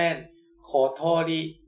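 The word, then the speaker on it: ことり: ไป ขวา 2 ขีด ตัว นี้ ออก เสียง ว่า โคะ นะ ครับ ตัว y อัน นี้ ออก เสียง ว่า โะ นะ ครับ แล้ว ก็ ขีด ซ้าย ขีด ขวา รอม ๆ โอ้ย มือ สั อัน นี้ ออก เสียง ว่า ลิ นะ ครับ รวม กัน แล้ว จะ เป็น โคโทริ โคโทริ นะ ครับ ก็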